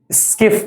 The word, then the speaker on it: Schiff: या सिफ बेस, सिफ ही पढ़ते हैं इसको, स्पेलिंग क्या प्रोनाउंस करते हैं इसकी? सिफ, substitute imine, स्किफ base, स्किफ base, स्किफ, SCHIFF base, ये भी बोलते हैं इसको।